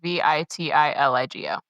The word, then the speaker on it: vitiligo: The actual condition it's spelled V I T I L I G O.